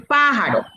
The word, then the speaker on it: pájaro: y yo les dije cuál es la mayor fuerza de voz en pájaros llámenla paro pájaro pero la profesora nada más